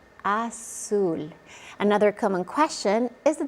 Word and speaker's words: azul: In most of Latin America, the Z is pronounced like an S. So it's not zapatos, it's zapatos. It's not azul, it's azul.